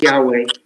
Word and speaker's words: Yahweh: So Joseph's tradition, and he can share more about it than I can, is to pronounce the Yud Hey Vav Hey as Yahweh.